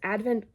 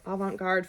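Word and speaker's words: avant-garde: science fiction and of includes Advent Avent guard that doesn't sound like I'm saying it right Avant that's it Avant guard fashion in metallic colors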